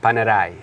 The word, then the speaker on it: Panerai: panel a okay well this is an Italian brand so Panerai paneer on it okay okay and to